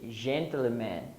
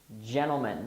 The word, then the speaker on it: gentlemen: I hear many Brazilians say gentleman or something like that. Remember, the pronunciation is gentlemen.